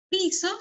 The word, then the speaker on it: piso: Piso, con este acento, ¿no? En la I. Piso. Pero si nosotros colocamos el acento en la O, pisó el césped, pisó, es diferente a piso.